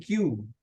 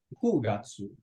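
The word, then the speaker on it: 九月: Agustus 8 kan aci September 9 bukan Q tapi ku Gatsu terus sisanya sama Oktober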